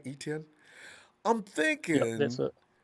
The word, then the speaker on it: Etienne: I was looking at Etienne because I'm thinking, is that how I pronounce his name right, Etienne?